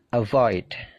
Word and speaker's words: avoid: kayak gitu ya ask avoid become begin jadi perhatikan stressingnya stressingnya punyanya come punyanya gain punyanya leave jadi stressingnya itu di suara yang kedua avoid become begin believe